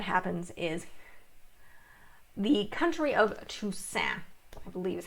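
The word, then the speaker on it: Tusaine: The next thing that happens is the country of Toussaint, I believe is how she pronounces it. Look at the maps here. I always love that. Yeah, it's Toussaint, which is east of them.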